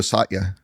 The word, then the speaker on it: Satya: Pronounce it for me. I It's Studio Satya.